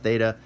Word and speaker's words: theta: distinguish those sounds so typically we make it a voiceless dental fricative that sounds complicated it's not it's just a like think so like that it's usually how we pronounced theta that's how we're gonna